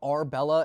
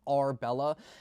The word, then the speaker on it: Ourbella: These are from the brand called Arbella. And I'll put the name right here if you don't know how to spell it, but it's Arbella.